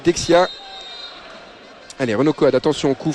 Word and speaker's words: Dejan: C'est comme ça qu'on prononce, nous, la phonétique française, on dirait Dejan, mais pour les Serbes, c'est Dexia.